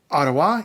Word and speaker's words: Ottawa: Catharines Peterborough I do want to make a point of telling you how to pronounce Ottawa Ottawa is the capital of Canada and it's in